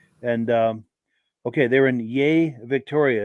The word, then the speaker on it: Yea: um okay they're in yay Victoria it's pronounced yay cool deal and then